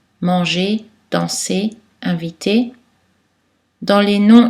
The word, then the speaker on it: manger: Mais attention, la lettre R est silencieuse dans la terminaison infinitive des verbes en ER, manger, danser, inviter, dans les